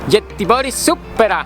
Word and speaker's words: Göteborgsoperan: de la ópera villa en mi sueco se pronuncia jet y boris supera y allí se desempeñan obras de ballet clásico